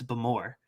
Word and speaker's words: Bowmore: fruit and smoke from, I think it's pronounced Bowmore, not Bowmore, not my South Carolinian, it's Bowmore. But let me scroll down a little bit to this chart.